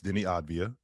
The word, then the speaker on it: Deni Avdija: He's from His It's Deni Avdija.